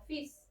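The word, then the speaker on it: fils: Para hijo vamos a usar esta palabra f para hija f, pero no se pronuncia fis, se pronuncia como fis.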